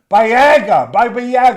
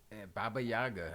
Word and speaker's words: Baba Yaga: She got on me a little bit last week when I was calling him Bayaga, whatever.